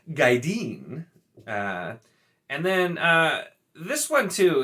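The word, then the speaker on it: Gaidin: For the term for warders, which I always said Gaiden, because once again I don't pronounce I sound constantly like Robert Jordan apparently wanted Michael Kramer to, but is Gaideen.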